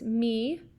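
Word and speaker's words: mu: m lowercase m and it's me in greek is how you pronounce that and so this is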